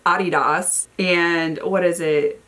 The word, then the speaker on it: Adidas: And she's like, no, it's Adidas. And I'm like, what? I was like, girl, you're saying it wrong. She's like, no, you're saying it wrong. Because we're Americans and we like to distort how everything is said. So Adidas is Adidas.